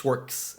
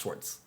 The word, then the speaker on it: Schwarcz: German it's a well it's the Hungarian spelling of the German name Schwartz because it's still it's not pronounced schwarks it's pronounced shorts total USC explanation right